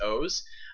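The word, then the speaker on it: OOO: is common rider O's and that's spelled three O's it's not o it's O's um o is kind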